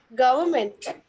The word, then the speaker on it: government: Government. Okay, so the exact pronunciation would be government. Government. Government. So you don't Government. have to, Government. you don't have, exactly. Just skip the R. R is silent.